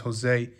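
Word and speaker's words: José: Jose is Joe cining actually it's pronounced Jose I know but I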